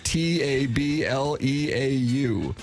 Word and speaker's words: tableau: brackets were dutifully tracked in Doug, how do you pronounce this? T A B L E A U Tableau.